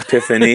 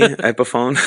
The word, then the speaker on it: Epiphone: Epiphany, epiphone. It's just like I said epiphany. I'm like, yeah. that's not a word. It's just epiphone with the emphasis on the different syllable.